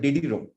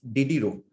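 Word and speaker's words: Diderot: was diddy ro a dieder it is called diddy ro it is pronounced as diddy ro diddiro is a french pronunciation did you know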